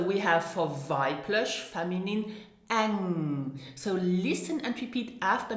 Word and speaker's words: eng: So we have for weiblich, feminine, eng. So listen and repeat after me for the correct pronunciation.